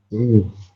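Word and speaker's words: 위: Wi. Wi, oke betul ya. Ini ada vokal U ya, vokal U di awal ditambah dengan vokal I, maka kita membacanya adalah wi, teman-teman.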